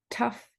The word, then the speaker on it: tough: Tough, the pronunciation is uff.